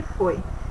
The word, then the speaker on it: foi: Herói, ele tem o som mais aberto. E foi o som mais fechado.